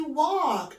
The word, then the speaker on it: walk: كمان من الأفعال المهمة قوي يمشي walk وده خدناه قبل كده في نفس الوحدة. يمشي walk. يمشي walk. يمشي walk والال silent مش بننطقها.